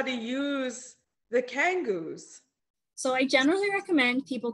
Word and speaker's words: Kangoo: me about okay am i saying it right kangoo kangoo yes thank you they are low impact rebounding